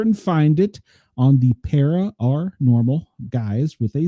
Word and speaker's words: Para OR Normal: And just in case, because of how you pronounce it, it is Para OR Normal, not Para OR.